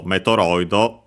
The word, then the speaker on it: メトロイド: because it's in the titles Metroid and so Metroido that we have seen before.